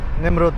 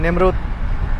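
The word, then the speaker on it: Nemrut: আর বেশিক্ষণ লাগবে না আমাদের সেই নেমরুদ পাহাড়ে পৌঁছাতে। বলে রাখি, ইংরেজিতে এটা নেমরুদ উচ্চারণ করা হয়, লেখা হয়, আর আমরা কিন্তু নমরুদ বলি।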